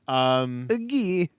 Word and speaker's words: Guy: Gay? What? Guy. My name is Guy.